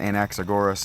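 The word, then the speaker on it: Anaxagoras: Anaxagaras the stage director. We pronounce it Anaxorus. And I don't know why it's not pronounced the agora. It's pronounced the um Agura, but whatever.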